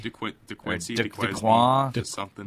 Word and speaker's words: Duquesne: I don't even know how you pronounce it. DeQuincy? DeQuincy. DeQuan? Just something. Duquesne.